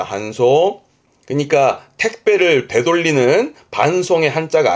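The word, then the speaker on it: 搬送: 발음은 한소입니다. 한소. 그러니까 택배를 되돌리는 반송의 한자가 아니에요. 혹시 반품하고 되돌리는 반송 아실 것 같으면 댓글에 적어보시죠. 한자 확인해 드릴게요. 그런데 지금 이 한소, 반송이라는 것은 운반해 보내는 거니까 지금 그림처럼 많이 접하게 됩니다.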